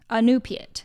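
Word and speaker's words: Iñupiat: Anupiat. Anupiat. That's how you say the tribe.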